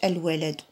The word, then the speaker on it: الولد: مثلا عندنا كلمه فيها هنا الولد، بحالاش الولد غادي نتصنتو واش قريناها بالشمسيه ولا القمريه. قلنا الولد معنى نطقنا اللام، قلنا الولد الولد تنطقو اللام، عفوا الولد ال.